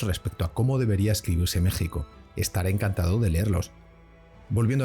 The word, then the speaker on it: México: México, en la época de Hernán Cortés, se escribía con X y se pronunciaba como México, prepalatal fricativo sordo, pues era el fonema que correspondía a la X, como cuando se llama al silencio a alguien. Shh.